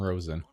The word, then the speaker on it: Rosen: that's it there's martin rosen it's actually pronounced rosin thank you ah